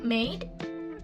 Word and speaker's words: made: So next we have made. Made is a nasal sound. The symbol is M. And we can pronounce m.